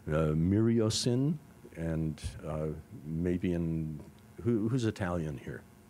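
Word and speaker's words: myriocin: testing a drug called miriocin, and maybe who's Italian here? Any Italians in the group? No, then I can get away with it. I'm going to pronounce it the Italian way.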